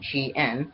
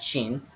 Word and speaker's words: Shien: Now, for my side deck monster, which is Legendary 6 Samurai Shien, 2 words, Shien, not Shin, which I believe I pronounced, she said Shien, whatever.